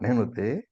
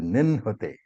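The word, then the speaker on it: निह्नुते: I heard somebody say nenhute. It is not nenhute. It is ninnute.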